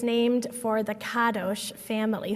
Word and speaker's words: Kadosh: it's named for the Kadosh family, who pronounce it like that, Kadosh instead of Kadosh.